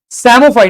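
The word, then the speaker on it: psammophyte: सैमोफाइट, यहां पे P silent लेना है।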